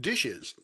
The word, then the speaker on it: DHSES: referred to by the acronym dhses pronounced dishes this presentation and the